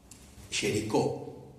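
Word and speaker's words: Géricault: Y le encarga a un artista muy conocido que se llamaba Jericó. Se escribe Jerico, que era uno de los grandes pintores de Francia.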